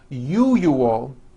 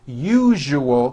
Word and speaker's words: usual: are very very common if you are someone that pronounces the word usual as ual I'm telling you you are not being understood let me show you how to pron pronounce the word usual correctly break it up into three syllables u o that second syllable Zu the one with the underline needs to be voiced put your hand on